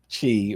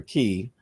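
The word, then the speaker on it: qi: But similarly, chi or ki, as it's pronounced, is the same thing.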